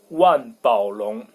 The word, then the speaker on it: 万宝龙: So the pronunciation, well, German people learn everything, so they would pronounce it in a French way, Mont Blanc, like in French. But in Chinese, it's 万宝龙.